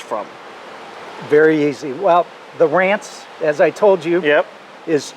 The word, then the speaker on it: Ranc: And when they came through Ellis Island, my name never got an E put on the back of it to pronounce it Rance.